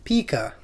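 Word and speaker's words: pica: excited so paa or as you you know fanatically would say Pika that's how it's pronounced this condition forms when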